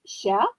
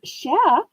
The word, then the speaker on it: cher: Her Discord name is Sha Grandma because Sha means, which is spelled cher, Cher. It's the French word for dear.